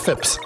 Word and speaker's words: Phipps: This is Phipps. Phipps. Like rhymes with chips. Yep. Okay, Phipps.